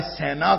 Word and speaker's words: سینا: ہیں، جس کو آپ کہہ لیجئے کہ صحرائے سینا کہنا چاہیے. قرآن پاک نے اس کا تلفظ یہی بتایا ہے، طور سینا، کہ وہ